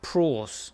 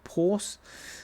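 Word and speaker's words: πραΰς: The word is, and there's a uh Hebrew word there, uh praws or porse. Um say it like a whip crack, but uh weakness controlled power.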